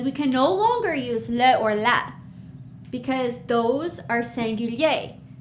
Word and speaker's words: les: see the s is we don't pronounce it we write it we see it when we read it but it's just leo all right good job